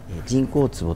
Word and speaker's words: 沈香壺: 沈香壺になります人工坪とは沈む薫ツボと書いて沈香壺と言うんですけれども